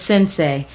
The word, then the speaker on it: Sensei: My name is Sensei. It's pronounced S I N S A Y.